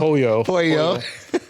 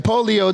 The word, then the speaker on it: pollo: See, you're saying it wrong. Pollo. Yeah, I was like, pollo. Okay. You were saying polio chicken.